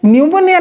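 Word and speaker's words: pneumonia: दे छि ओके तो सही बोली आमे जदि न्यूमोनिया लेखिबा समय रे फर्स्ट अक्षर पी रु आरंभ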